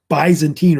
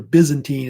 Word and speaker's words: Byzantine: And so the name Byzantine or Byzantine, it's pronounced either way, would basically be stuck as a name that they would call later the Eastern Roman Empire.